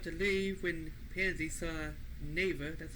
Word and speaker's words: Neva: So they were just about to leave when Pansy saw Nea. That's how you pronounce his name.